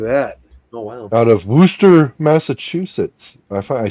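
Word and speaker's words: Worcester: exard look at that oh wow out of woster Massachusetts I I said it right oh my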